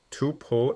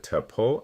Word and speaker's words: tuple: And both pronunciations you'll hear, too-pull and tuh-pull, are perfectly fine.